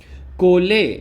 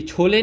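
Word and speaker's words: chole: कोले, ये छोले नहीं है, ये कोले, इसको ऐसे प्रोनाउंस करते हैं कोले, ठीक है ना, के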